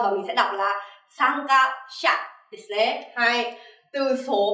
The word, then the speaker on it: 参加者: Mình cũng thêm chữ giả vào đằng sau và mình sẽ đọc là 参加者.